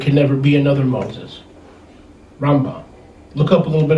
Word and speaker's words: Rambam: the great rabbi maimonides rambam not ram bam some of these information they try to pronounce the name ram bam sounds like some kind of hollywood movie it's rambam a brain surgeon in